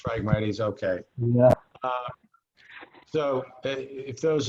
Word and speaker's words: Phragmites: I'm not sure about the correct pronunciation. Marla could probably help us with that. Phragmites. It's Phragmites, okay.